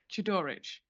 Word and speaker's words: Chodorowicz: Any interested parties objecting would like to ask, and I'm going to say it wrong now, tell me how to say it again, Mr. Chodorowicz. No? Chodorowicz. Yay.